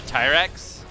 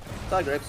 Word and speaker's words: Tigrex: With my favorite being right now the Tyrex. And Rex. what? Tigrex. There's a G in there. Yeah. I forget the G exists. The G is silent now.